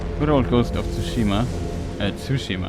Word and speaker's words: Tsushima: Tsushima, I think it's pronounced. Press on the U.